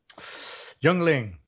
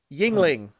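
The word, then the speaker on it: Yuengling: Youngling. Yes. Light or regular? Is there a light? Yes. Okay. Regular, of course. That's a man's answer right there. That's a man's answer. Youngling. Yingling.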